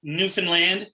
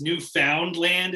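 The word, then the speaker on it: Newfoundland: is it Newland yeah here we say like newfinland so it's like sounds like New Finland but it's not it's new found land is technically but yeah New Finland new found land whatever it doesn't matter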